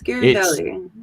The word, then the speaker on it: Ghirardelli: I'm not going to try and pronounce that because I will butcher it. Ghirardelli. I love Ghirardelli chocolate. It's Ghirardelli.